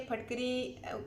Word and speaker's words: फिटकरी: नीम गर्म पानी लेंगे ऐसे, और फटकरी लेंगे। फटकरी को एलम भी कहते हैं, फटकरी भी कहते हैं, फिटकरी भी कहते हैं, बहुत से प्रोनाउंसिएशन है, ठीक है?